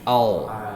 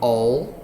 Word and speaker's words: I'll: Can you pronounce the I will? I'll finish. I'll. Not all. I'll.